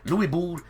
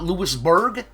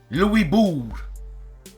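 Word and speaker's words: Louisbourg: on Kickstarter so check it out on Kickstarter Lou Bo 1758 yes it's not lewisberg or BG it's Lou Bo yeah the uh the GS silent the O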